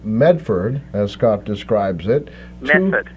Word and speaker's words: Medford: Method. The D is silent.